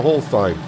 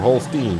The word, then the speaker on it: Holstein: not this one here that's a whole sign uh or holstein depending on you want to pronounce it uh where is he